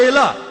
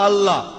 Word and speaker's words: আল্লাহ: ঠিকভাবে উচ্চারণ করলে আমরা বলব আল্লাহ তারা বলে এলা সমস্যা নেই তবে সঠিক উচ্চারণ হবে আল্লাহ পরে যখন রেফারেল স্কফিলড বুঝতে পারলেন যে তিনি